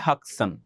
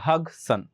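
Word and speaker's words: Hodgson: এখানে যে ডিটা আছে না এই ডিটা কিন্তু উচ্চারণ হবে না। এটার রাইট প্রনান্সিয়েশন হবে হাকসন। ঠিক আছে? হাকসন। এইচ ওডি আছে না? ডিটা তোমরা উচ্চারণ করবা না হক্কসন রাউলফ হক্কসন টাইম ইউ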